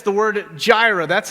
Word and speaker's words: Jireh: It's the word Jireh. That's how it's pronounced, for those of you that had questions on how to say it.